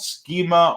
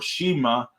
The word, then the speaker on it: schema: into that that is called schema or Shima um however you want to pronounce it because I've heard it both ways but that is the